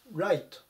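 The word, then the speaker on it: right: 9 q 11 番ライトライトこれが 8 まず発音注意熊野この gh の部分とかですね 4 はないということで注意してください右右の右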